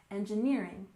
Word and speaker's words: engineering: and finally we have engineering with the main stress on the third syllable engineering engineering for example she's studying